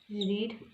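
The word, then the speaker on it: read: जब हम इसको सेकंड फॉर्म में प्रोनाउंस करते हैं तो ये रेड हो जाता है.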